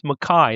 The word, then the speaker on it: McKay: And he pronounced his name Mai, not McKay. Even though he's written down as McKay, he insisted on being called John Mai.